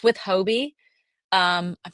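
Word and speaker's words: Hobbii: It's with Hobie. Um I'm not sure if I'm pronouncing that right. Sometimes I hear people say Hobie, some just say hobby. Uh I've heard hubby.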